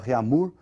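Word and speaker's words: Réaumur: que a escala reunir que nós vamos pronunciar reamur aqui aportuguesado de novo e essa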